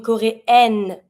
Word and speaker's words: coréenne: Une coréenne, I pronounce my N because it's in front of the mute E.